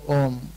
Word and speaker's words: Om: It consists of three syllables. When it starts saying Om, it opens out the mouth, A, U, M. A, you have to open your mouth to say A.